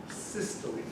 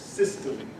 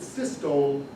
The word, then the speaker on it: systole: Contraction is called systole. If you've read the book, you've seen this word. It's pronounced systole. If you pronounce it systole, everybody knows you don't know what you're talking about.